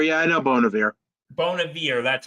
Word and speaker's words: Bon Iver: I don't know much of his music but Bon Iver beating Nicki Minaj for oh Bon Air yeah I know Bon Air Bon Air that's how you say his name okay thank